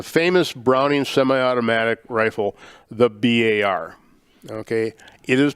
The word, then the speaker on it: BAR: uh the the famous browning semi-automatic rifle the bar okay it is pronounced b-a-r it stands for browning automatic rifle it is